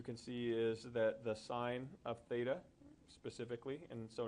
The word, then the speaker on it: sine: stating these at the SI n is representing sign and you'll pronounce it sine it's not pronounced sin this is just the